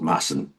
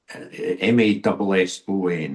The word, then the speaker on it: Mason: But in the end, he eventually joins up with a a a a young cop called Massan. Craig Masson. Um M A S O N. It's often pronounced by people who don't better like people